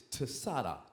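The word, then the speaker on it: Tsadi: So we're going to pronounce it. It's Tsada.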